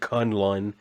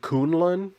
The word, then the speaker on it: Kunlun: I remember in the Iron Fist show, they just pronounced it Kunlun, which kind of sounds a little bit weird to me. So I'm just going to pronounce it Kunlun.